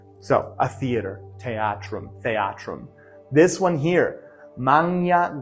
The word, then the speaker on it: theatrum: A theater, theatrum. That's what it is in ecclesiastical pronunciation. Theatrum, theatrum in classical pronunciation. Again, this TH is just like this PH. It creates a puff of air.